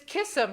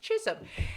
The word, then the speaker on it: Chisholm: And the boy who sat next to me said, "Who's this Kissam who's running for president?" I said, "It's pronounced Chisholm."